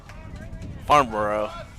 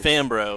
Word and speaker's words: Fambro: Farnborough, or how do you say it? Fambro, excuse me.